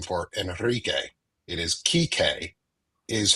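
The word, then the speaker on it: Kike: It is Kik is how it is pronounced.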